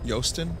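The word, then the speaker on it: Joosten: It's pronounced Yosten.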